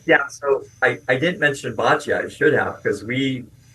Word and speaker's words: boccia: So, boccia.